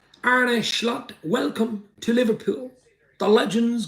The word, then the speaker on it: Arne Slot: absolute Legends in the house as I say ar schlot welcome to Liverpool the Legends continue Juran Norbert